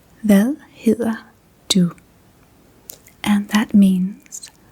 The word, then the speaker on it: Hvad: Hvad hedder du?